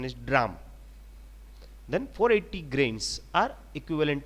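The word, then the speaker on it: drachm: to one drug drum drum sometimes some people pronounce this as dracum odrachum but normally the correct pronunciation is drum then 480 grains are equivalent to 1 ounce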